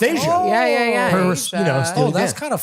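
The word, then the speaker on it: Aja: Oh, pronounced Asia.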